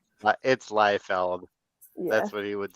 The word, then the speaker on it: Liefeld: That is a mispronunciation. It's Liefeld.